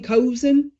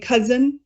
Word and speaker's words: cousin: Are you still sometimes saying kosen or are you saying cousin?